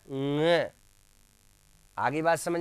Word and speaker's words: ङ: क, ख, ग, घ, ङ। आगे बात समझ में, ये पंचम वर्ण है, इसका उच्चारण होगा ङ, एनजी, और नाक से इसका उच्चारण होता है।